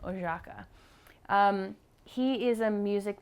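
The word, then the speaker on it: Oszajca: oh my God joh John oaka is how you say his last name oaka um he is a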